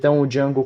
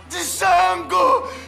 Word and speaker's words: Django: Django! Seu crioulo, filho da puta! O D é mudo, caipira.